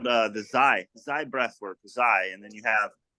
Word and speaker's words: Xi: The How actual do you spell that? Yeah, Zai, it's XI.